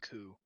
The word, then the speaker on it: coup: of opinion of terrorism, but also it's pronounced coup, just so you know. Oh, coup.